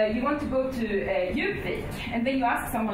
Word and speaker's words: Djupvik: Because, of course, you pronounce the D in Djupvik, which means deep beak.